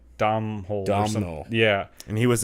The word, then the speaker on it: Domhnall: It's not Donald, but it's like Domhnall.